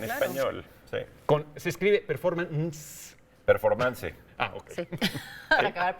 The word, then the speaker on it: performance: Performance. Ah, ok. Sí, para acabar pronto. Para acabar pronto, ¿no? Pero se dice performance Pero ¿cómo se dice en español? Performance. Performance. Sí. como en inglés.